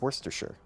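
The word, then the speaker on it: Worcestershire: It's like worse with the C and then stir and then sure. So it's worsture.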